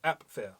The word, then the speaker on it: Apfel: They saying the p. Yes. I don't hear the p. Yes. He actually says the p. Apfel. Apfel. But it's not a hard pronunciation. If you ask me, it's more like a sliding it in, like Apfel.